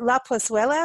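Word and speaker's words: La Plazuela: were at La Fonda Hotel at, is it La Pozuela? Am I saying it right? Pozuela, yep.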